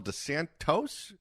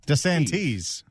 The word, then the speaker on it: DeSantis: Did he call him DeSantos? Governor DeSantis was... DeSantis. Okay. There's like 3 ways to get that name wrong, and he found all of them.